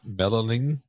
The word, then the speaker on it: melanin: The reason why people have darker eye colors is because I would have mispronounced this word, but it's melanin.